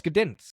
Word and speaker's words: Gdańsk: I'm gonna Google it real quick actually, because I think you do pronounce the G if I remember right, but I might be completely wrong about that actually. Let's see. Oh, it's Gdansk.